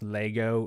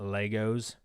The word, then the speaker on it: Lego: Pronounced Lego, not Legos. All right, if you say Legos, all the nerds will have a hissy fit.